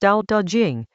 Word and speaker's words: Dao De Jing: The Dao De Jing, pronounced Dao De Jing, is a short text from ancient China, attributed to a figure called Laozi, Lo Diza.